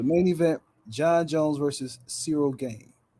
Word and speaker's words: Ciryl Gane: event Jon Jones versus Cyril game is that how you say his name yeah that's how you